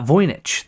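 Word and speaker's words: Voynich: see my notes here it is pronounced oh where's my note uh voyich the voyich manuscript yes here so and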